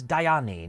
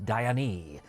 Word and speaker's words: Diane: First off, my main character's name is Diane, not Diane.